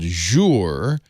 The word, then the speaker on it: Jour: This is called jour, the first syllable of journal, or maybe you pronounce it Journal. jur, but of course it's the French word for day, and it is a journal for your day.